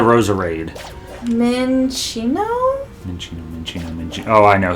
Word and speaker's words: Roserade: Rosalie into Rosard. Rosalie. Yeah, now you got me jacking up. It's Rosalie into Roserade.